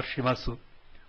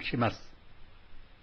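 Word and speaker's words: します: the English letter U this letter in this place is silent we don't pronounce these words as or gasu or shimasu but ASAS and shim all verbs have a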